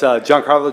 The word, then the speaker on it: Giancarlo: Well, you gotta be able to get Giancarlo now, Gi- right? With the Yankees bringing on the guy from Marlins, right? So it's Giancarlo Giannini.